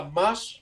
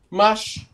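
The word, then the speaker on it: Mars: Rồi, cái thứ ba là March. Các bạn nhớ có chữ RS cho thầy. Khi mà phát âm nó là âm S nhé. March, March, nha, March.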